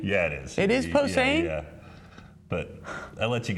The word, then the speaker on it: Posehn: 100.9 and the Scotty Show here with Brian Posehn. How are you? How you doing? How you doing, man? Actor, comedian, Brian Posehn. Posehn. Posehn. Is it Posehn? Yeah, it is. It is Posehn?